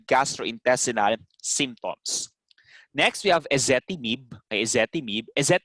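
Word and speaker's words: ezetimibe: symptoms next we have essetti mib is the correct pronunciation here that is so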